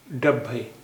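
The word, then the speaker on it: డెబ్బై: डब्बे 70। देखिए पिछले पाठ में 70 का उच्चारण कुछ गलत हो गया था, इसे सही कर लीजिए। इसका उच्चारण है डब्बे डब्बे 70 डब्बे 70 डब्बे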